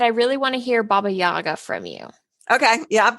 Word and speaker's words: Baba Yaga: But I really want to hear Baba Yaga from you.